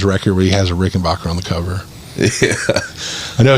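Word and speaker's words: Rickenbacker: Most people say it the way I say it, but the family's actual way of pronouncing their name is Backer.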